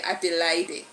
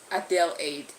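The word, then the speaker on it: Adelaide: just they helped me and then I can pronounce that name very well. I used to say Adelide Adelide but today somebody just people from there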